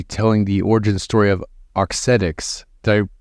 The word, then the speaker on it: Auxetics: going to be telling the origin story of otics did I pronounce that correctly Ramsay that's correct otics otic autic so autic is a Medtech company